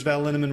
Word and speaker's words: Linneman: Alicia Lemons, Rebecca Hughes, Val Linneman, Rhymes with Cinnamon, Nick Harper, Stephanie Holmes,